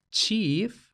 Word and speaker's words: chief: Esto explica la diferente pronunciación entre chief con este sonido che y la pronunciación de chef con este sonido she, que según he consultado